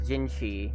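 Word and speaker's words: Jinhsi: meeting up with that gingi person getting your memories back I've got you her name is pronounced as gingi but how it's spelled out is like J Jin J C speaking of that so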